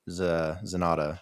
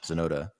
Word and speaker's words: Zenotta: um, but tell me what's on the horizon for 2021 with Zenotta, Zenotta, Zenotta, yes.